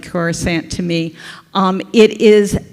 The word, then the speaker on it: Coruscant: habitable zone next um corsant which apparently I mispronounce but it looks like Coruscant to me um it